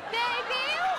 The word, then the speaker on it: debut: บัฟเฟ คือรวมทุกอย่างบัฟเข้ามาหากันบัฟเฟต Buffett ผมผ่านแล้วใช่ไหมครับ ด่าออกมา Debut เนี่ยเดฟอุดครับครู Oh my god อ่านว่าเดบิว เดฟอุด เดบิว เดฟอุด เด็กหญิงจอย Debut เธอจะมาเถียงเพื่อนทำไมเพื่อนเขาอ่านถูกแล้วเขาอ่านว่า เดฟอุด หมายถึงอุดที่ขาเด็กหมายถึงอุดขาของที่เพราะเดินเยอะคนมันหนักคนเด็บอุดเธออย่ามาเถียงเพื่อนสิจอยเธอนี่ Hello ฟาโมอุด